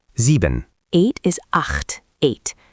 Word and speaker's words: acht: Eight is acht, eight. That ch is throaty, acht.